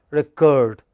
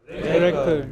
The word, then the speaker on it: record: When it is verb, it is the second syllable which is stressed, recurred.